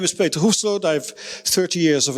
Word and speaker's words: Hoefsloot: My second name, which is difficult to pronounce, is Hoefsloot in Dutch, but the French say Hoepslop, and you know there's lots of different ways to but I'll listen to any of them.